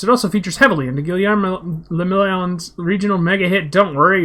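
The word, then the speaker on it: Guillaume le Million: For Ravachel, your city, that meant only one thing, Guillermo le Million. If it doesn't rhyme, you're not pronouncing it right.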